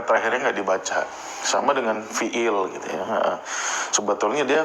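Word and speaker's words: فعل: Fi'lun ya. Kalau di sini ismun, kalau di sini fi'il ya itu dalam kajian disebutnya fi'il. Tapi pada dasarnya ee penyebutan yang benar itu fi'lun ya.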